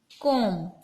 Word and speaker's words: comb: Next is comb. So where is the comb? Yes. Here we write C-O-M-B. Comb. So which is the silent letter here? B. B is silent. We are pronouncing that comb.